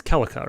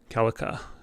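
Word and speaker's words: Celica: i was i was mispronounced her name as it it's kellika right kellika who would have been a really great choice for smash in my opinion almond calica so still in the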